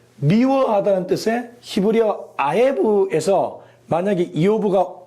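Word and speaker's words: אִיּוֹב: 그리고 히브리어에서는 이오브라고 부릅니다.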